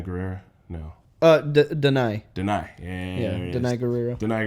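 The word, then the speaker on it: Danai: Diana Guerrera? No. Denai. Denai.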